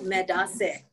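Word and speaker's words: medaase: So for you, medase.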